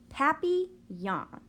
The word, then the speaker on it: Papillon: hope we get a Papillon like our neighbor's dog you say it like this tapi yawn in French it means butterfly I